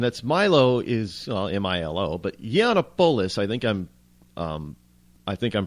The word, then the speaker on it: Yiannopoulos: are in tears and feeling unsafe after Milo Yiannopoulos had an event there, and that's Milo is M-I-L-O, but Yiannopoulos, I think I'm pronouncing it correctly, Yiannopoulos.